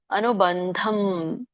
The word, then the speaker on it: ಅನುಬಂಧಂ: ಪೌರುಷಂ ಮೋಹಾಧಾರಭ್ಯತೆ ಕರ್ಮ ಯತ್ತತಾಮಸಮುಚ್ಚತೆ ಉಚ್ಚಾರಣೆ ಅನುಬಂಧಂ ಬಂಧಂ ನೋಡಿ ಬ ಕೆ ಮುಂದೆ ಅನುಸ್ವಾರ ಇದೆ ಅದು ಯಾವ ಅನುನಾಸಿಕ ಬರುತ್ತೆ ಅನುನಾಸಿಕ ನಾಸಿಕದಿಂದ ಹೇಳುವಂತದ್ದು ತ ಮುಂದೆ ಯಾವುದು ಪದ ಇದೆ ದ ಇದೆ ತತ ದದದನ ದ ತತದದದನ ದ ನನ ಬರುತ್ತೆ ಸೋ ಹಾಗಾಗಿ ಬಂಧಂ ನ